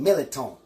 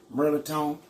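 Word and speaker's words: mirliton: But at home, we call it Militon. It ain't even spelled that way. It's pronounced Merliton.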